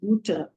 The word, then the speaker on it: Butter: butter for butter uh the spelling is exactly same as in English but the pronunciation is buta same b t but